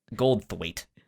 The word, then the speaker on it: Goldthwait: Goldthwait. Goldthwait.